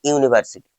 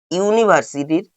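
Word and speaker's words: university: He reads in অ্যান ইউনিভার্সিটি, এটাও incorrect. কেন? ইউনিভার্সিটির ইউ, ইউ এর মতো উচ্চারণ হচ্ছে, তাহলে অ্যান এর পরিবর্তে কি হবে?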